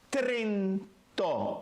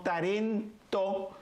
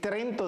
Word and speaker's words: Trento: Y se dice Trento, no Tarento, como algunos que quieren estar hablando de todo lo que está pasando ahora entre la iglesia y son unos ignorantes, no pronuncian bien el latín, no pronuncian ni siquiera bien nada. Entonces en vez de decir Trento, dicen Tarento.